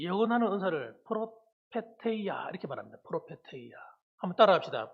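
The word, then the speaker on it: προφητεία: 그래서 이 헬라어로 이 예언하는 은사를 프로페테이아 이렇게 말합니다. 프로페테이아. 한번 따라합시다. 프로페테이아. 예, 잘하시네요. 예, 발음이 아주 좋으세요.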